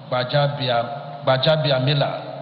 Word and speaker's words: Gbajabiamila: of Representatives, Right Honorable Gbajabiamila. Let me pronounce it like our presidential candidate, Adie Tinubu, Gbajabiamila, and all the National Assembly members.